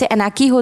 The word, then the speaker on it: anarchy: it is also called Anaki. Anarchy is loose upon the word, so there are different ways of pronunciation, in this R is silent.